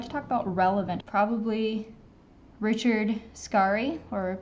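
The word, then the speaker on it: Richard Scarry: talk about relevant probably Richard scari or people often say Richard scary but I think it's actually pronounced Richard scar trying to mix a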